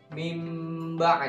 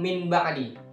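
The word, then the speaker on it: مِنْ بَعْدِ: dengan Pak B1 jadi cara membacanya mimba kali bukan Min ba'di ya walaupun disitu nol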